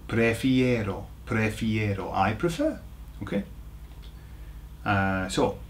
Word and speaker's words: prefiero: It's pre-fi-ero, prefiero. So what you have to remember is that it's got an ero on the end, okay, for those who know ero chocolate, right? Prefiero.